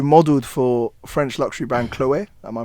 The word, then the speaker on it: Chloé: Number two, you modeled for French luxury brand Chloé. Am I pronouncing that right? Yes. Is it Chloé during the 2020 Paris Fashion Week?